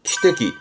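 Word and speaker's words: 汽笛: 그러면 기적은 키대기, 키대기.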